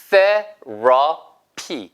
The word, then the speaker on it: therapy: 자, 발음 주의하세요. 위치와 아래치아 사이에 혀끝을 문 상태부터 소리가 나야지. 그 전에 소리가 나야 하시면 안 돼. 그러니까 이렇게 발음하실 수가 없는 거죠. 보세요. 여기부터 소리를 내셔야 돼요. 보세요. 당기면서 therapy 해보세요. therapy. 근데 얘도 B로 발음하셔도 돼요.